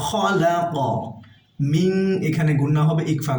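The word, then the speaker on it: خَلَقَ: কফ এখানে যেহেতু আমরা ওয়াকফ করছি তাই কফের উপরে জজম হবে, আমরা এখানে কলকলা পড়ব, ধাক্কা দিয়ে পড়ব।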